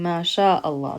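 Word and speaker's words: ما شاء الله: And when we pronounce it, we're saying ma sha Allah. That's why we're saying it connected.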